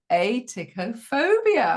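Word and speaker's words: atychiphobia: I'm going to try and pronounce it properly. A ticophobia. Aicopobia. I said it right.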